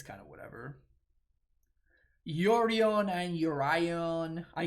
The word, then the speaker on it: Yorion: it's kind of whatever yorion and urian i call it yorion some people call it urine like it's just it's just too much these random names that's how that's your yuri on yuri on yeah there's no way